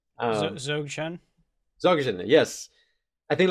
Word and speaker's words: Dzogchen: I think I don't know how to pronounce it. Dogchen? Dzogchen.